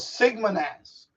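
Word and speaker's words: XigmaNAS: It's called Sigma NAS, like Sigma as in the Greek letter Sigma, except it's instead of SIGMA is XIGMA.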